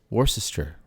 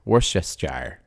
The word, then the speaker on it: Worcestershire: really say anything honestly the shire is actually completely dropped it's more of just a it's a common thing it's been simplified i guess was that